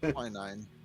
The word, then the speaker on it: quinine: Is that how to pronounce that, Chameleon? Good for infections? What, unicorn piss? No, quinine.